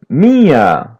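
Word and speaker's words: minha: Mia say feminine my listen and repeat mia repeat part after part ma ma mia mia letter n is a light n and letter h is pronounced as y mia try to Okay.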